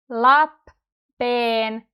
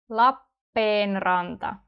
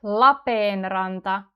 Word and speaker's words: Lappeenranta: And if we have two P's together, you have to pronounce both of them. Lappeenranta. Lappeenranta. But notice actually when I'm saying it properly, I do not open my lips in between. Lappeenranta. Not Lappeenranta. You keep your mouth closed for a bit longer.